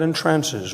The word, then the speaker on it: entrances: He takes all the money with a smile that entrances, which rhymes with advances.